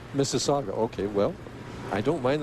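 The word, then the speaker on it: Mississauga: people in Ontario I I hate to correct you Mike but that's Miss Saga Miss Saga okay well I don't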